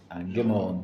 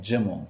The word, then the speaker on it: gimel: a different pronunciations okay some yemenites say gim Jim Jim Jim j all different pronunciations of the giml we say gim simple